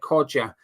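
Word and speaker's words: Kudus: incredibly accurate J says kadua sounds like Coda not that hard I'm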